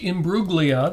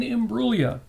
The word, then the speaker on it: Imbruglia: birthday uh not pronounced Imbruglia the g is silent but Natalie Jane imua is 49 years old